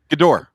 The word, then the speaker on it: Gador: Gador. Gador. So it's like, okay, so think of it this Gador. way. GE hyphen Thank you, Chris door. McBride. Like door that you open. Door.